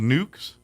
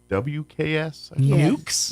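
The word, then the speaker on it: Newk's: It's a chain, which I didn't hear of, but there is one in Lubbock, and it's called Newks, and it's spelled Newks. Newks.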